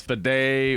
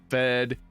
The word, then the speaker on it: Fede: of if it was fed or fed it's like it's it's short for feder Rico though there is an e on the end of it you you're not pronouncing it so it's just the